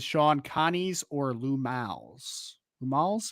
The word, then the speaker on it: Lou Malnati's: Ryan Loftus says, Shaun, Connie's or Lou Mal's? Lou Mal's? Am I pronouncing that right? I mean, it is Lou Malnati's. It's short for Lou Malnati's.